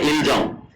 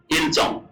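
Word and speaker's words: 일정: না বুঝতে পারি তাহলে আমরা উচ্চারণ করতাম কি আগে ইলজং ইলচং কিন্তু সঠিক উচ্চারণ হচ্ছে ইলচং ইল চং তার মানে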